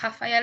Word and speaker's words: Rafael: Rafael halfway as well it's not Raphael it's Rafael it's honor and they still